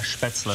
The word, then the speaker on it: Spätzle: I'm going to try the spätzle. Is that how you pronounce it? Yeah, spätzle.